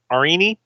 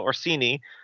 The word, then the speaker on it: Orsini: were called by a message from uh vencino arini definitely said his last name wrong the Duelist instructor or assini sorry I had to zoom in yeah of course Ben Carlo Orsini uh to help get uh Trina the artist